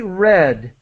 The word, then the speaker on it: read: that paragraph We have she read the pronunciation is like the color red in English so this is past